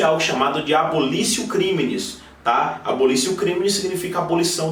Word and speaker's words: abolitio criminis: O que está na cabeça do artigo 2º é algo chamado de abolitio criminis, ou abolitio criminis, como é escrito realmente, mas na pronúncia a gente fala abolitio criminis, que nada mais é que a supressão do crime.